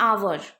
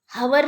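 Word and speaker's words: hour: एन आवर, okay, आवर, हवर नहीं बोलते हैं हम इंग्लिश में, लिखते हैं एच से, बट प्रोनाउंस क्या आ रहा है, आ से उच्चार हो रहा है, आ स्वर से उच्चार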